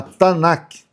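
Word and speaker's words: תנ״ך: Então essa é a Tanac, assim que se pronuncia no hebraico. Então se você falar pro para um judeu ortodoxo, eh você se referir a Tanaque, é para nós o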